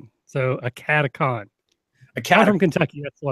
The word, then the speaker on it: AcadeCon: It's AcadeCon because it's Academy and Convention. Yeah. So AcadeCon. I'm from Kentucky. That's what it's going to sound like. So AcadeCon is coming up.